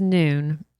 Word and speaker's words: Nuun: So the Noon, it's spelled Nuun, and the Noon Sport Hydration, they have 300 milligrams of sodium in the tablet, 150 potassium.